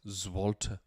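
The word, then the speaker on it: złoty: It's like Zloty. Is it Zloty? Yeah, probably pronouncing that wrong, but it's something. I probably am. Yeah. Alternatively, no, Zloty. It's got here Zloty. Okay. Well. Zwolta. It's actually pronounced Zwolta.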